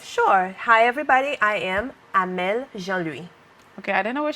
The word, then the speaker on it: Amelle Jean Louis: She wants me to pronounce it right. So Jean Louis. Okay, for us Americans and other Caribbean, it's Amelle Jean Louis. Hi, Amelle. Hi, how are you? I want you to say your name how it's properly supposed to be pronounced for our viewers.